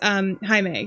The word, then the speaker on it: Jaime: It's spelled like Jamie, but his name is Jaime.